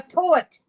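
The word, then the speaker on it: torte: A tort. It's a tor.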